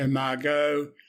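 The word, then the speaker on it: Margaux: Hence you had Am I K M Chat Margo as you know pronounced I spelled M A R G A U X and it was M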